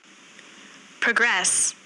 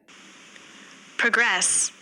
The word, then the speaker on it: progress: Next progress, प्रोग्रेस, प्रोग्रेस, once again progress, प्रो यानी कि noun, first level पर focus किया गया है, तो answer noun. Next object, once again object,